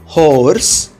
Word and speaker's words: hoarse: सो अपना वर्ड है HOARSE, O और A में A को भूल जाऊंगा और O का नाम लूँगा, आवाज़ नहीं। So this word gets pronounced as horse, horse।